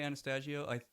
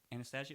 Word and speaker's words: Anastasio: Even though like I saw a video of Trey Anastasio. Anastasio, is that how you pronounce it?